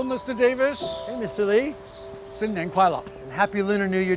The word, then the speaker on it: 新年快乐: 新年快乐. 新年快乐.